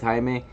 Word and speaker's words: Jaime: Okay, I'm Hispanic, so it's Jaime, and my last name is, I mean, I guess you can say it different ways.